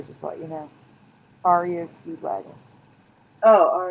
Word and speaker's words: REO: concerning uh eight track tapes and the band Rio Speedwagon sticker oh yeah cargo it's pronounced sorry yeah just to let you know REO Speedwagon oh all right okay yeah this is